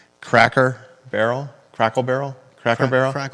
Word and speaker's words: Cracker Barrel: And the headline can be crackle barrel rebrands, comma, faces, big-time backlash.